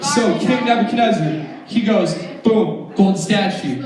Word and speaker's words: Nebuchadnezzar: going to say a really funny name ready Nebuchadnezzar how many of you guys can say that